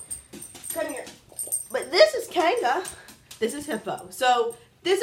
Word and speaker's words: Kanga: But people say my channel is pronounced Loves Conga. It's Loves Kanga.